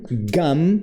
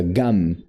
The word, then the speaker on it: gum: Gam, gum, ó, olha como a gente fecha a boca, gum, né?